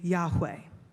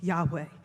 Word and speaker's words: Yahweh: language, we know that a closer pronunciation of this name is actually Yahweh. That's the closest we can come without having the vowels to work with, Yahweh.